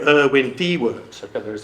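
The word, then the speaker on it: Diewert: Irwin Dewart, okay, that is how you pronounce his name.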